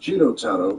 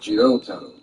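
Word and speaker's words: Jotaro: My name is pronounced Got Taro and not Jot Taro. Got it. J and not JRo. You have to make sure not to elongate that second vowel.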